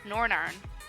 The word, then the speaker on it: Northern Ireland: currently living in Belfast Northern Ireland or as the locals say nor an urn you're right gem dragon